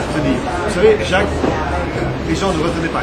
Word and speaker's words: Jacques: correspond je m'appelle Jacques Le son Jacques ne correspond pas à l'écriture du prénom a desas de lettres